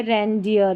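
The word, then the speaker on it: reindeer: ये है रेंडियर, रेंडियर। तो ये जो EI में ए की ध्वनि आती है, बहुत कम स्पेलिंग्स है।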